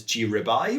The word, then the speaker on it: gRIBI: g ruby so um i've heard it has been pronounced as g ribeye which is quite nice